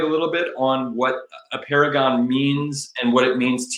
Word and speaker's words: Apeirogon: It's Apeirogon. Some people say Apeirogon. They might be right too. And there's two ways to say it.